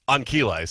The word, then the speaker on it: Ancile: 6 Greek letters, and that is pronounced Ankile.